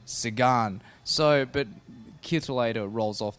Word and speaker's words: Sagan: I think it's actually better than the Sagannator, because, Sagan, like a lot of people having trouble pronouncing his name correctly, it's actually Peter Sagan.